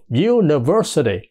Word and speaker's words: university: á Đúng không Nó gọi là du đ University thành ra là cái chữ University đó cái